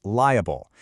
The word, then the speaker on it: liable: Well, that secret agent word is liable. It's pronounced with three distinct syllables.